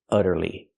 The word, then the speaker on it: utterly: word this word is utterly here we see the U making a short uh sound like cup and up because the U is before a double consonant that's why it's short uhuh utter utterly utterly means